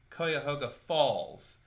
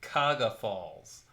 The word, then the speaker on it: Cuyahoga Falls: And there's a city called Cuyahoga Falls, but people just pronounce it Kaga Falls, which drives me absolutely bonkers.